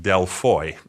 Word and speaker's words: Δελφοί: matter which we englishspeaking people choose as our pronunciation of the site the Greeks call it deloy and that is the proper name for this